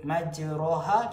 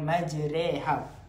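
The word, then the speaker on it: مجراها: Imalah pun termasuk dalam bidang qiraat ataupun bacaan qiraat imam, iaitu majreha. Sepatutnya kalimah majroha kita baca dengan majreha.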